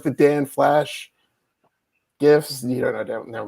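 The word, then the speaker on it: Dan Flashes: You said Don Flash, right? Dan Flash. Anyway, don't spell that wrong. If you wrote Dong Flash, it's not Dong Flash.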